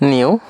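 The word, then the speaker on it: ν: The pronunciation of this one is nu.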